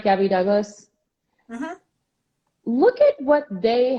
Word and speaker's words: Gabby Douglas: Gabby Douglas?